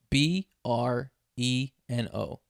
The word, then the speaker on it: Breno: for you you tell me how you would pronounce it all right b r e n o you yo it people's heads